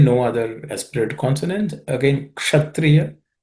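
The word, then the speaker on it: क्षत्रिय: Again, kshatriya, just pay attention because it's uk and cerebral sha, uksha.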